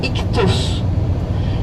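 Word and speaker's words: ἰχθύς: Fish is sacred in Christianity, and in Greek language they call fish iktus, and iktus is written I, X, theta, sigma, and Y.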